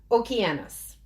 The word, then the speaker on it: Okeanos: And then we have Okeanos. So it's spelt in English, ocean us.